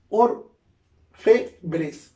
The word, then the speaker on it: orfebre: Ojo, orfebres, orfebre, ¿ya? Entonces, orfebre, no es orfebre, no lleva tilde porque es palabra grave.